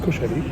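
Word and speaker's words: Koshari: So it's pronounced Kusheri.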